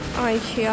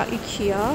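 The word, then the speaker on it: IKEA: اینجا نمایشگاه بیرونی آیکیا هست یا ایکیا. حالا هر کس یه جور تلفظ می‌کنه. من آیکیا میگم چون خارجیام همون آیکیا صداش می‌کنن.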